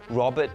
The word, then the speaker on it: Roberrt: My name is Roberrt Tan, spelled with two "r"s. Not the French Rober but Roberrt Tan.